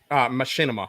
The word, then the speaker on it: Machinima: Machinima.